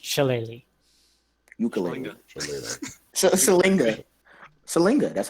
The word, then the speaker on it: Shillelagh: Shalinga? No, it's pronounced Shillelagh.